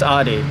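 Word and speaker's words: Ade: It's Adi. Adi? Yeah. How do you spell that for me?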